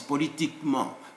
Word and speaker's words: politiquement: the formation of adverbs, if before them there is another E without an accent, don't pronounce it generally speaking. You skip it in the sound. So it's not politiquement, no, it's politiquement, like that.